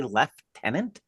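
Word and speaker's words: lieutenant: of speaking French that they say left tenant yes I mean where are you getting that pronunciation what are you doing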